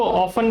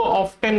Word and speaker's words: often: दोनों ही बिल्कुल ठीक प्रोनाउंसिएशन होते हैं। आप इसको ऑफन भी बोल सकते हो और आप इसको ऑफ्टन भी बोल सकते हो।